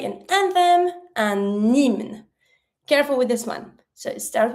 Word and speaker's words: hymne: Then, if you want to say an anthem, un hymne. Careful with this one. So, it starts with an H. The H is mute, and the Y has the E sound. Hymne.